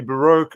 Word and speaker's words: baroque: I mean, You can say, I believe in English, the pronunciation could be baroque or baroque. Both of them are correct. So some people say baroque, some people say baroque.